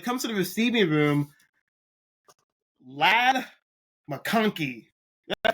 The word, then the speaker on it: Ladd McConkey: And when it comes to the receiving room, Ladd McConkey. Did I pronounce that right? Ladd McConkey, yeah.